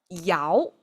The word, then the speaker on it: 爻: imagery by that time I didn't know this pronounced as yao and I didn't know it means interaction it